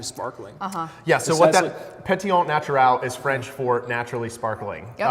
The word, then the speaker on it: Pétillant Naturel: This is Pétillant Naturel, is how it's said, also known as Pet Nat.